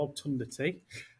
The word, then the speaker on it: Obtundity: Obtundity. And how and why did it get its name? I think you are pronouncing it right, because that's how I pronounce it as well, Obtundity.